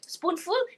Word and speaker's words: spoonful: Spoonful, F-U-L dia bunyi full, pendek. Pendek. Full. Pendek.